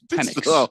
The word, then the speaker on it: Penix: I've never mispronounced Michael Penis Jr. Never. Once. I think it's Penix.